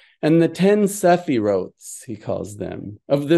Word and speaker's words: Sephirot: Now here the idea of the Sephirotes, or properly pronounced Sephirot, is that of divine 10 divine hypostases.